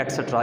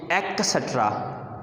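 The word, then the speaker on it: et cetera: ये लफ्ज़ देख लो क्या है, ये एटसेट्रा, but Americans pronouns it एक्सेट्रा, Americans pronouns it एक्सेट्रा, but British pronouns it एटसेट्रा, टी से, एट टी से कहते हैं और अमेरिकन्स के से, एक्सेट्रा।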